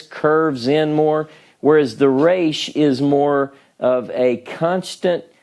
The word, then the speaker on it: Resh: Resh, okay?